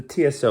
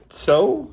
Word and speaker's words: Tso: how to say this is it the TSO is it so so like the tea is silent I think so what do you do